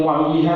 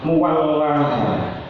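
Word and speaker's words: مولاها: Penggoni tafsir Jalalain niku bisa diucapkan muwallaha. Jadi bukan muwalliha tapi muwallaha.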